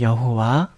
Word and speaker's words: 여호와: 이를 행하는 여호와, 그것을 만들어 성취하시는 여호와, 그의 이름을 여호와라 하는 이가 이와 같이 이르시도다. 뭐라고요? 이를 행하시는, 이제 다르게 또 다른 발음으로 또 알려드릴게요.